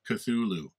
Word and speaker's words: Cthulhu: had to watch a youtube video to say cthulhu cthulhu um so you stare into the endless abyss at cthulhu's retina and then you get three choices one